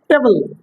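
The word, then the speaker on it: table: জিনিসের নাম ঠিক আছে টেবিল টেবিল টি এ বি এল ই আমরা সবাই উচ্চারণ করি টেবিল তাই বলি উচ্চারণটা টেবিল হবে না টেবল উচ্চারণটা হবে কি টেবল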